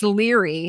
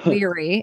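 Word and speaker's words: Laoghaire: how to say it, it's Leary is how you say her. Leary. It's looks like lug hair, but it's Leary. It's Gaelic.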